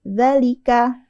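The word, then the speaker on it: ذلك: kita bacanya pendek hadiah ada lagi dalika D yang pertama dibaca tulisannya e tulisannya harusnya dibaca panjang tapi ee e dalam kata ini berlaku hukum bacaan qasr jadi dibaca pendek aja dalalika Semoga nanti dimurajaah lagi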